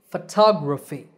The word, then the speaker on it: photography: In these words, the stress is on the second syllable. It becomes a long ta, and the other vowels become short. So, photographer, photographer. And similarly, photography.